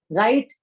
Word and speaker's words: write: That is read, write, and recite. Now, although it starts with W, but because W is silent, so it is called as 3 R's of the language.